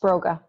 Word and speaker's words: Sproga: and the work that you're doing did you pronounce it's poor guys I have you spray gun it's Broga robot so when I moved to New York